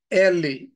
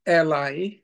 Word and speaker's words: Eli: We've got the priest Eli or Eli, E-L-I. Some pronounce it as Eli.